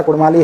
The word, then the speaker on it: कुड़माली: उठाकर देख लीजिए, वहाँ कुड़माली गीत जब भी गाया जाता है तो वहाँ पर अड़ अक्षर का ही उच्चारण वहाँ पर होगा, वहाँ पर र अक्षर का उच्चारण नहीं होता है। क्योंकि कुड़माली जो भाषा है, कुड़माली भाषा के जो शब्द हैं, कुड़माली भाषा का जो बोलने का जो शैली है, जो लहजा है, उसमें र अक्षर का उच्चारण होता ही नहीं है।